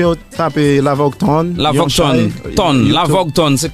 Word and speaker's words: Lavoge Tone: La Vogue Ton. Ton. La Vogue Ton. C'est comme ça se prononce.